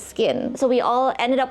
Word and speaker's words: CKIN: asking my friends like when you see c k i n how do you pronounce it it's SK or sein and there were quite a few who called it sekin but I'm here to tell you it's skin so we all ended